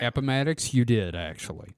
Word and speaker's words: Appomattox: And did I get the pronunciation of that one right? Appomattox, you did, actually.